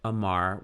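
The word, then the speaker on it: אמר: it would be amr in this case the aleph is silent but amar we would have the a the m and the r for amar to say so that is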